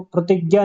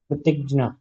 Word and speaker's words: प्रतिज्ञा: तो जब वो प्रतिज्ञा बोलते हैं तो प्रतिज्ञा नहीं बोलते बल्कि प्रतिज्ञा, क्योंकि वो ज नहीं बल्कि ज का उच्चारण करते हैं।